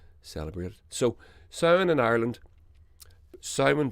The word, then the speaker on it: Samhain: So Samhain in Ireland, Samhain, by the way, for those listening, is spelt Samhain.